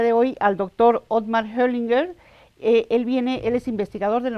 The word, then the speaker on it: Hoglinger: Hoglinger is the right pronunciation.